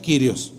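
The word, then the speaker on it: κύριος: la pantalla verdad es Sun y kirios curios según es pronuncia kirios dos palabras Sun y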